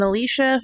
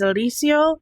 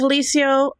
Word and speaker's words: Alicio: I think I keep pronouncing her last name Alicia. That is 100% my bad. It is Alicio. I know a family with that last name that goes by Alicia. So, I didn't bother to check. I just I was like, that's it. That's what that's how you pronounce it. So, yeah, it's Alicio, not Alicia.